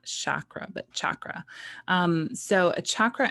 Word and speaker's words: chakra: The word chakra means wheel. And in case you wondered, I looked it up before I started, and it is pronounced chakra, not chakra, but chakra.